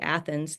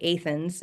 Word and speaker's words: Athens: And even like the city, to me it looks like Athens. They say Athens, and there's a Yeah.